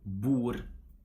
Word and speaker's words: bord: We don't pronounce the letter D in combinations ND, RD, and LD. Okay, we just drop it. Like for example in lon, or bor, or koll.